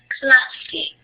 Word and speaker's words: clase: Hay que pronunciar la E al final de la palabra. Entonces se pronuncia clase.